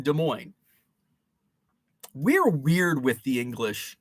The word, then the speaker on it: Des Moines: des plaines des moines the s is silent in des moines we're weird with the